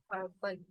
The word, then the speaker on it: purple: So see, this is a Purple. Purple is the schwa sound, purple, right? PLE is a schwa sound.